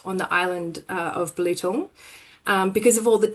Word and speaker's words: Belitung: Um but actually it's pronounced Bullet. Uh and it's quite interesting to know that this is where Bilitin BHP got its start on the island uh of Bullet.